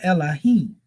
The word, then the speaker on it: Elohim: or Allah that is used, and this is pronounced as Allahim or Elohim, right?